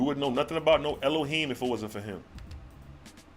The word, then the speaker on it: Elohim: Pronounced Elohim.